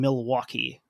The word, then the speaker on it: Milwaukee: anywhere else it does it's a bit like hearing someone pronounce the L in Milwaukee yes how it sounds